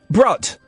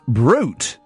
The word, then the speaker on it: Brut: Ah I think it's pronounced brute. Brute or something. Yeah. Yeah. Yeah. Not brut. If you're going into your local boots or wherever and asking for brut.